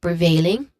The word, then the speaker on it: prevailing: It starts with a consonant cluster of the consonant sounds P and R that are blended and then paired with a short e vowel sound. Next to that is veil, which has a diphthong sound.